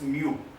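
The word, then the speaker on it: μ: This is the Greek letter and we are pronouncing it as mu.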